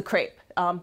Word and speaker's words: CREP: large-scale collaboration is the crepe it rhymes with grape it's a metaphor I don't know if you've ever met the people in charge of the crepe but they're really insistent it's not crap okay I'm not even